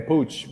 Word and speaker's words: Puig: i think so okay so it's pig but he says pooch so so that's how you say it then pooch because okay ricky pooch but i'm gonna say i'm gonna say puig because i had a